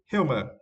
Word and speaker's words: humor: yeah for this words we to stress the first syllable right hum humor it's mean the quality